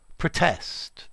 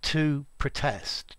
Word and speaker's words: protest: you stress such vibes i heard it pronounced with the second syllable stressed and the first is schwa but can it be